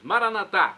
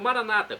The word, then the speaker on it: Maranatá: E agora eu clamo, do aramaico para o português, Maranatá, como dizemos nós católicos, ou Maranata, como dizem nossos irmãos separados, os evangélicos ou protestantes, não importa a pronúncia, o significado é o mesmo.